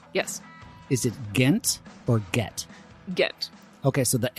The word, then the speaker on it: Guentner: The U is silent, and Germans just like to have too many letters. Yeah, yeah. Both N's, because there's Guentner. Right. You pronounce them both. Yeah. It's a double N-der.